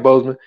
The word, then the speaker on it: Boseman: um um ban yeah I said it right Boseman um you know he he kept cancel quiet